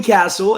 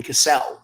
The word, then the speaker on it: Castle: No, it's officially Castle, as you can see. I believe since the last time we worked with each other, I've officially changed the spelling, and so the name is pronounced as it's always been. But you now have no excuse to, get on here and call me Cassell because the spelling is very clear.